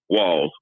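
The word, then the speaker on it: Walz: And the vice president nominate the governor is Walls. It's like WALLS, but it's a Z. Walls.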